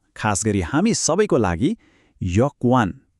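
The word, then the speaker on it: 여권: एकदमै महत्वपूर्ण शब्द खास गरि हामी सबैको लागि यकवान उच्चारण हुन्छ यकवान मतलब पासपोर्ट ल फेरी एकचोटी यकवान यो त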